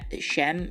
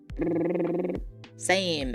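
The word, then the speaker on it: Sejm: It's shem.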